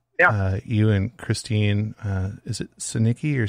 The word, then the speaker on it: Sinicki: I know that you and Christine, is it Sinicki or Sinichi? I always say it wrong. Sinicki. Okay. So Christine Sinicki is a state representative for Wisconsin.